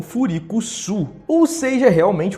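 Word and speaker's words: Freecss: Já em japonês, freak de esquisito é traduzido como Furikuzu, e o sobrenome do Gon é pronunciado como Furikusu.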